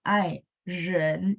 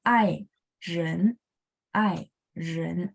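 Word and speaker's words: 爱人: ya ai ren ya ren jadi R itu dia nggak gulung kayak bahasa Indonesia tapi dia diangkat doang ya lidahnya ya ai ren gitu ya oke 谢谢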